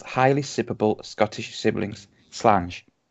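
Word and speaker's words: Slàinte: Slange. That's how you pronounce that, isn't it?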